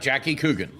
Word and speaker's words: Jackie Coogan: Jackie Coogan.